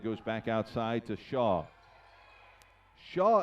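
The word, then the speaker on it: Hsia: back outside to Shaw Shaw is spelt H s I a by the way and a tie-up take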